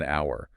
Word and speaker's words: hour: It starts with a consonant sound, not necessarily the letter and an hour because the H is silent.